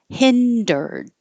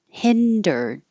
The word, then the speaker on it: hindered: I know it looks like hinder red. um, it looks so different than it sounds. It's just two syllables. Excuse me. Hindered. Hindered.